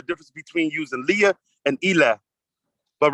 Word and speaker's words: ila: so much hey okay Ila this is pronounced Ela it means to or